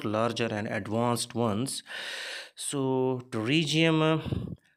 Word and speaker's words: pterygium: and advanced ones so to regium p is silent into region is one